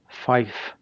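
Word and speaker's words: five: So these are 0, 1, 2, tree, not 3, tree, 4, fife. We don't say the V, we say an F, fife.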